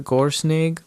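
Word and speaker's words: GÖRSNYGG: The IKEA Gorsnig. It is sound it out and spell it SNYGG for the ending, but GORSNYGG on the IKEA website.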